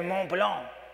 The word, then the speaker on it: Mont Blanc: A Mont Blanc. He teaches me how to say it. It's kind of nasal thing, sort of comes out your nose.